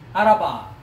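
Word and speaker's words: ערבה: Araba. Araba, right? Araba means desert. Araba. Araba. So the pronunciation itself, Arab, Arab, Araba. It looks like Arab.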